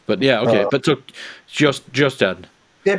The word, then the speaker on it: Kjostad: I say KJOSTAD. Uh-huh. It's the name of a lake in Minnesota. Is that how they pronounce it? Pretty much, yeah. I mean, Minnesota is populated by Norwegian immigrants, so it's probably more like KJOSTAD.